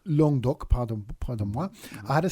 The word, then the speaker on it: Languedoc: Pronounced Languedoc, is that right? Languedoc. Languedoc, pardon moi.